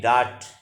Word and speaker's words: dart: DART डार्ट are silent है, noun है।